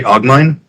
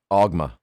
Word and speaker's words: Ogma: You say Ogmine? Ogma. Ogma.